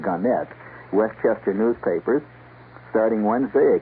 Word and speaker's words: Gannett: Gannett, or Gannett, they prefer to pronounce it Gannett, Westchester newspapers.